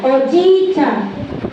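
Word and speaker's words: おじいちゃん: If you have two vowels, dapat longer and longer ang pag-pronounce. Hi, wakalimashita ka?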